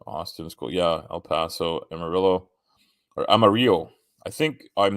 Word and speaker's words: Amarillo: School yeah El Paso Amarillo or Amaro I think I'm not I don't speak Spanish but I think it's pronounced Amaro but I I think Americans say Amarillo um is pretty cool